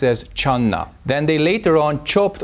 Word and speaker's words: Chan: In China, jhana was pronounced as channa.